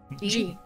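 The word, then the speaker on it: Jee: G. That one. G. Sorry. Yes. And it's spelled G-E-E. Right. Either that or J-E. Oh, yeah. J-E. I like that better. It's spelled J-E-E. G. Not to be confusing at all.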